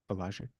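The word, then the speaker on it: Wieliczka: Walajic.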